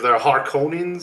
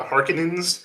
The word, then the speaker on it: Harkonnens: Like in that Lynch one, they're Harkonnens, and then on this one, they're the Harkonnens. Harkonnens. Yeah. the emphasis is on the different part.